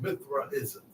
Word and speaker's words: Mithraism: want everybody to look up this word called mithraism okay it was a deity called Mithra I'm